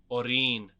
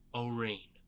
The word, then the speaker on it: Orin: Orin, Svetya supplied, lightly stressing the last syllable. Orin.